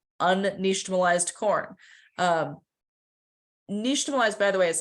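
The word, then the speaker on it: nixtamalization: like unnationalized corn um nationalize by the way is spelled n-i-x-t-a-m-a-l-i-z-a-t-i-o-n um that X sound makes us because it comes from the Aztec language um and Tamal you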